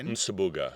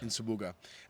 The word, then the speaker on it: Nsubuga: Frank Subaga with an N on the front. I'm going to go Nsubuga. Nsubuga.